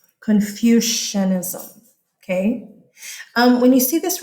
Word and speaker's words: Confucianism: Kids always put an S right here. And they try to spell it like confusion. It's not Confucianism. It's based on his name. Confucianism.